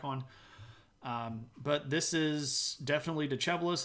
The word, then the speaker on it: Decebalus: But we do know that he gives the throne to a guy named Decebalus. I know it looks like Decebalus, but it's pronounced Decebalus. My pictures are out of order.